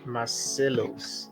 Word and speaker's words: Masselos: okay so our next speaker is uh Julia marcellos I hope I got the pronunciation correct yeah you actually nailed it okay